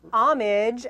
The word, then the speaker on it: homage: To use a word they use a lot in Cop Out, homage, as Tracy Morgan uses it. The homage. Yeah, the homage. You have to pronounce the H.